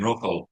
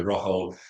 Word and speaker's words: Rojo: Oh, we pronounce it Rojo. So, we with that uh Spanish H. So, Rojo, Spanish for red.